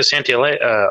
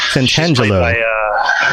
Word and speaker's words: Santangelo: Veronica Santillane. How do you say your last name? The gal from the Brotherhood of Steel. Santangelo. Santangelo. I can't see anybody else